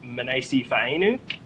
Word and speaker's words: Manase Fainu: said to me that the commentators pronounce your name wrong is that true is it pronounced minase Eve a new yeah nice babe I